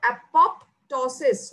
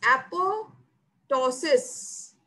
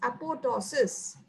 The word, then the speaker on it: apoptosis: means falling of leaves so falling remember the pronunciation is not apoptosis no it's not that how you pronounce that it is apo tosses so when you pronounce apotosis don't say it as apoptosis no it's apotosis the basic biology in the process of uh